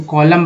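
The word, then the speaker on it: column: देखिए ये जो एम एन है इसको कॉलम वाला में याद रखिए, सी ओ एल ओ यू एम एन, है ना, कॉलम, तो कॉलम हो गया, तो यहाँ पर सॉरी यहाँ म हो जाएगा उच्चारण, कॉलम।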